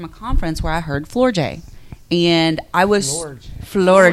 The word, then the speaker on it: Floortje: Her name is Flor J.